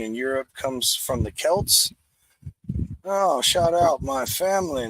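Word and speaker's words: Celts: Europe comes from the Kelts oh shout out my family let's go who inhab France Belgium and parts of Germany and Switzerland oh no no not Kel I'm thinking Celtic my bad the Kelts brewed beer called braggot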